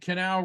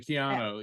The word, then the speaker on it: Keanu: call-in show get your Virgo on I understand Canal Reeves is a Virgo um oh Kiana reads yeah okay I was calling Canal but Keanu yeah yeah yeah oh so let's just talk